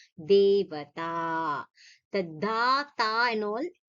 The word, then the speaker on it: Devata: So here this ta and da, generally there some people, the tendency to say this ta is like dha. They'll say Devata, Devatha, ta. No, Devata.